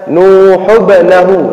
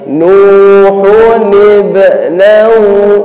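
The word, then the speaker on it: نُوحٌ ابْنَهُ: Jadi yang di atas itu bacanya wa nada nuhun ibnahu, karena bertemu sukun-sukun. Nuhun salah bacanya nuhubnahu, salah. Tapi nuhun ibnahu, nahu ada niya itu.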